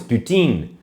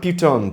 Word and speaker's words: poutine: No, putain is poutine. Not putain. Putin's a swear word. Putain is used for everything.